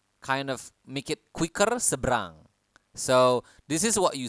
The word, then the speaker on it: seberang: of make it quicker seberang So this is what you say en seberang so we don't really pronounce the extra e or e Oke but